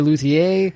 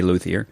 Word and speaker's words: luthier: I was going to ask how to pronounce that, because I was, it's like, is it the French? Do I say luthier? Or, no, most people in America just say luthier.